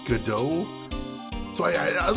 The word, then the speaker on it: Godot: hear his name pronounced i'm pretty sure the t is silent i believe so i believe so i'm basically basing it on the uh stage play waiting for godot because i think that's how you pronounce the name in that it's usually